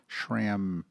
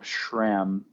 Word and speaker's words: SRAM: about your pronunciation of Shram so I always say I always say sham but you say Shram you kind of add like this sh sound like sh like Shram